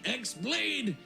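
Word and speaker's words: χ-blade: yeah he means the x blade it's just pronounced like keyblade even though it's just one keyblade ah the series is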